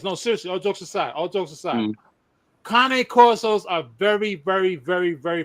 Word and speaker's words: Cane Corso: If you got a pure, this is why I asked if you had a pure Cane Corso.